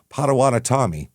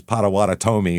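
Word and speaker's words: Potawatomi: In the 1700s, the areas were were occupied by the Padawanatami, as we found out. That's how it's pronounced after after the bottom of the M.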